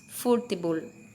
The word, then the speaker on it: futebol: Percebam que a pronúncia é diferente porque o acento é no fu, né? Então, temos futebol.